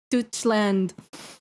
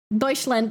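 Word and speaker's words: Deutschland: Douchand. I I can't German Deutsland.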